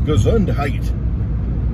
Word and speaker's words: Gesundheit: means health in german it's not because consumed type it's gazun height bless you say that